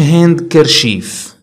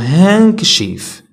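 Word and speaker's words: handkerchief: عندنا silent D، D is not pronounced in the following common words اوكي، هادي ما كنقولوش هاند كرشيف كنقولوا هانكشيف لان اصلا في البريتيش ما نقولوش كر اوكي نقولوا هانكشيف اللي هو المنديل.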